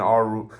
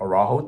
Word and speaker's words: Araujo: He scored for Moreno and Arujo, or Araujo, depending on how you pronounce it.